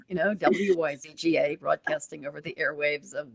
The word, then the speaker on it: Wyzga: your last name yes it's like Wizard and I know it looks like a radio station you know wyzga broadcasting over the airwaves